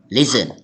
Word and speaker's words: listen: eat eat กิน e listen Listen, listen listen listen listen listen listen ฟัง ฟัง T ไม่ ออก เสียง เรา อ่าน ไม่ มี ตัว T นะ อา ว่า Listen Listen